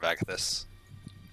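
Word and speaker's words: Agathys: Yeah, that's how it's pronounced. Armor of Agathis.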